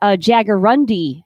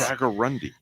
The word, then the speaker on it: jaguarundi: a jaguarundi? A jaguarundi is That's a big word for this show. Yeah. wild cat. And if you look it up, it's spelled jaguar and undi, UNDI.